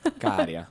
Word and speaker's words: Käärijä: Oh, I was just about to ask, how do you pronounce that? Käärijä. - Käärijä.